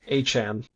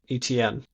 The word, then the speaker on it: Etienne: Apparently his name is pronounced Achan Interesting. as opposed to ETN.